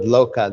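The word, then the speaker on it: โลก: Here in Thailand, the word loka, they pronounce lok, but they use it even to just mean world.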